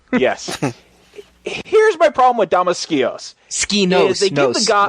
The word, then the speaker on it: Damaskinos: I feel like there might be another syllable in there. So do I. Damaskinos.